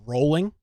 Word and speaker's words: Rowling: way did you know her name is actually pronounced rolling like a boat like